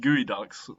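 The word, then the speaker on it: geoduck: These are actually pronounced gooey ducks.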